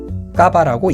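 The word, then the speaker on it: Cava: 까바라고 읽습니다.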